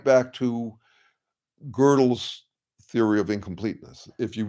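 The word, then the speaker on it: Gödel: Girdle is spelled G O D E L. And uh it's basically a conversation. Girdle Girdle mighty is like God Almighty.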